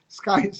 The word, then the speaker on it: Skies: Mudah-mudahan mereka atau semua anggota Skis yang 1000, kok Skis sih? Skies yang 1000 itu di bulan Ramadan ini cuannya minimal naik dari yang sebelumnya.